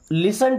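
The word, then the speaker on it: listen: लिसन टू मी। दोस्तों यहां पे टी साइलेंट होता है ना इसे लिसन नहीं पढ़ना।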